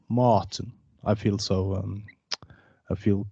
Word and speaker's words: Martin: It's just harder, faster, maybe. Yeah, it's Martin, not Martin. I feel so. I feel classy when I say it in English. I feel I should wear a suit. Martin.